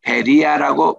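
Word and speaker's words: Βέροια: 주게 하니까 이제 합니다 우리 그 성경에는 베레야라고 이렇게 나오는데 우리 현지에는 베리아라고 발음을 하더라고요 여기는 이제 마게돈의 주에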